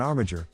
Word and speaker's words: armiger: though faith is hard an armager rhymes with integer is anyone entitled to